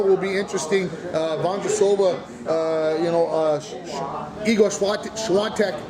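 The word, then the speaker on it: Świątek: Vondrasova, Igor Swiatek. Now they're putting an N in the name, in the pronunciation.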